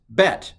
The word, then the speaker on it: bet: Okay, the second letter of the Hebrew alphabet, thankfully, is like the second letter of the English alphabet. It's Bet, alpha, Bet.